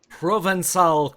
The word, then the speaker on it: Provençal: Like proven and then cal, but with a little accent on the bottom of the C, so it makes it sound like an S.